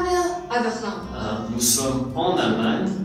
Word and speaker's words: Berlin: On prononce en français. Berlin.